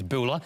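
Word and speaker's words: Boele: Nicolette Buller, I think the pronunciation is. It is Buller.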